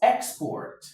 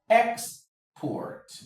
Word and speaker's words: export: Now for this we have For the noun it is export. export export, export. The stress is on the e x. That's the first syllable, export, export.